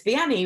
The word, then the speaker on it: Vianney: So I'm just like, I always tell people it's Vianney with it's Annie with a V at the beginning.